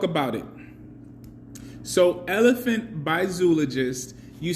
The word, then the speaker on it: Zoologist: So how does the elephant from Zoologist smell? I say zoologist because that's the proper pronunciation of the word, but the company itself says zoologist.